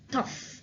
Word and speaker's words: tough: GH here is pronounced F, tough. What does difficult mean?